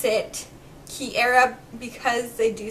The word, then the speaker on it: Kiera: So I decided to go back and I decided to add it with the word air in it, just so I think it's a little bit more easy to pronounce the way that we want it pronounced.